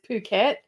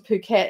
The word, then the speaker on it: Phuket: and we got to Phuket and Phuket is actually spelled with a ph so a lot of people say it's bucket and as a joke and she thought that